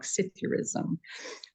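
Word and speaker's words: psithurism: And it's pronounced without the P, and it sounds like Scythurism.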